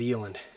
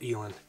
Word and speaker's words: eland: And he's just a beautiful bull eland, or elan, depending on how you pronounce it.